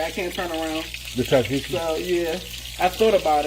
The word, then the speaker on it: tzatziki: It's kind of hard to pronounce it, but it's Tzatziki.